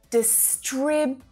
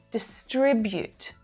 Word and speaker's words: distribute: Distribute. That first syllable is unstressed. Distribute.